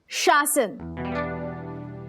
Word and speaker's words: शासन: नहीं नहीं, इट्स शासन। पहले श फिर स।